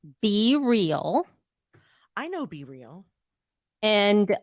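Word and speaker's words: BeReal: it on for people who are watching what be real is all about be real be real it's an app okay you spell it b-e-r-e-a-l because that's it yeah it's be real okay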